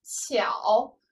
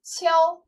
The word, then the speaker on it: 悄: 的时候，巧，组词可以为悄然无声；一声的时候读作悄，静悄悄。